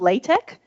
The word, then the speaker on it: LaTeX: So Overleaf is a software that you use, but the format is called LaTeX, but it's spelled latex.